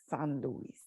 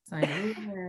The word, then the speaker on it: St. Louis: I just didn't know how to do Saint Louis, San Luis. San Luis. San. Say it like Nelly would. St. Louis.